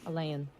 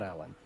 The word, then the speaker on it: Elaine: Oh, Elaine. Not Alan. Sorry. Alan. Not Alien. Lay. I have to spell it how it sounds. Elaine.